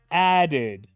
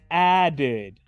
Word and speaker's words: added: pasado simple se dice added added escuchen de nuevo y fíjense cómo pronuncio la terminación e d added added la pronuncio como una ID veamos otro ejemplo para